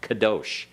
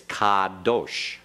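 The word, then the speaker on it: קָדוֹשׁ: comets has what sound ah as in the English word father not pronounce it right make sure you get that ah in there very clearly don't shorten it because it sounded like you were making a short half vowel like kadosh it's kadosh okay everyone kadosh again kadosh what's the second word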